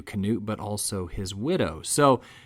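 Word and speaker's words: Knute: she said it's knut it's knut americans have adopted the name and just started calling him newt which is not true so not only is again the period newsreels of the time will tell you canute but also his widow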